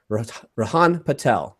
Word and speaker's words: Rihaan Patel: And you, my friend, you are Rihaan Patel. Did I pronounce that correctly?